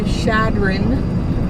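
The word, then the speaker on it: Chadron: It's like we have made it to Shadron. Apparently that's how you say it. Shadron. Oh, is it? Yeah. I was saying it wrong. I was saying ch.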